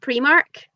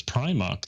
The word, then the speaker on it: Primark: actually the other night on Holly's quiz, because one of the questions was where was the first Primark?